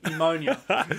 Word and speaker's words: pneumonia: died bya what I can't say it pneumonia amonia ammonia ammonia is a chemical PNE we all